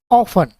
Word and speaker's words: often: अब यहाँ पे जो टी है इसका जो प्रोनाउंस है यहाँ पे साइलेंट हुआ है, तो इसलिए ऑफन यहाँ पे आया है, ऑफन। टी का हमें यहाँ पे उच्चारण या प्रोनाउंसिएशन नहीं करना है।